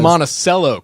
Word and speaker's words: Monticello: We're from Monticello, Kentucky. That's how you say it.